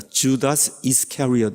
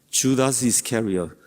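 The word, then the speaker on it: Judas Iscariot: 영어로는 반대로 읽습니다. 주다스 이스카리엇 이렇게 읽어요. 주다스 이스카리엇.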